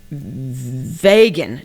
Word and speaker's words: vegan: Vegan. No, it's not vegan, it's vegan. Vegan, yes. Vegan rhymes with pagan, and that's wrong.